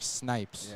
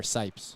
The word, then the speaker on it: Sipes: the outlaws that's snipes yeah snipes or sipes is it snipes yeah sipes sorry that we just butchered your name week in a week